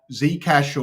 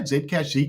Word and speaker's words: Zcash: Hey, do you reckon uh Zcash or how do you say Zedcash? Zcash Zcash. Yeah. Either or.